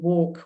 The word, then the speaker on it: walk: Maybe also could be pronouncing the or attempting to pronounce the consonant sound l in walk, which is actually not pronounced in English, and that may then sound like an R.